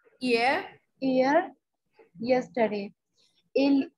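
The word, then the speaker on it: hier: Ear. We don't pronounce okay. H here. Ear. Ear.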